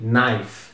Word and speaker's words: knife: é bem estranho porque primeiro tem esse k só que esse k é mudo a gente não a gente Ignora ele não se pronuncia que Knife não é kife você começa a pronúncia no n logo e esse I